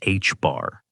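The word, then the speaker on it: ħ: The reduced plank constant written as H bar pronounced H bar.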